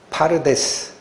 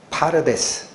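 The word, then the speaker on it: פרדס: 발음 주의에서 한번 들어 보세요. 파르데스. 파르데스.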